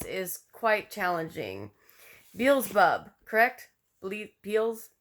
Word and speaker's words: Beelzebub: names is quite challenging Beelzebub correct sleep peels Beelzebub Beelzebub just think like Jennifer Beals and Wolverine saying bub right neelzebub Beelzebub in Christian